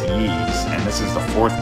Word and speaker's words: Ys: little weird it's called ease but it's just the letter y but it's pronounced yees and this is the